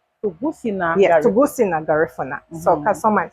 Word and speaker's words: Tuguscina: And let me make sure I pronounce this correct, because it is a Garifuna word, Tuguscina. Tuguscina. Yes, Tuguscina, Garifuna.